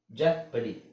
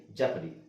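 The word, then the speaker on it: jeopardy: EO video ಸ್ಟಿರಿಯು ಇಯ next ಇಲ್ಲಿ ಈ ಓ ಇದೆ ಅದನ್ನ ಎ ಅಂತ ಹೇಳಬೇಕು ಅಂದ್ರೆ ಓ ಸೈಲೆಂಟ್ ಆಗಿರುತ್ತೆ ಅಂತ ಅಂಕೊಳ್ಳಿ ಲ್ಯಾಪಟ್ ಲಾಪಡ್ ಜಾಪಡಿ ಜಾಪಡಿ ಈ ಎರಡು ವರ್ಡ್ಸ್ ಅಲ್ಲಿ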